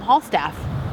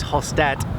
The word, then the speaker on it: Hallstatt: era i mean we thought it was called hall staff and so hall staff hall stat the correct word is hostat is about two hours from salzburg and so